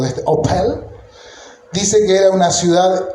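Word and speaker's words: Ophel: La palabra Opel se escriba o P e perdón o p h l no se pronunciaba.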